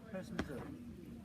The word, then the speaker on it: Herstmonceux: The village name therefore became Hurst de Monceux, pronounced now HerstMonceux. BBC, HerstMonceux.